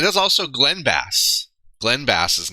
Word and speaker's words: Bass: It is Dick Bass, and it is also Glenn Bass. Glenn Bass's name is Bass.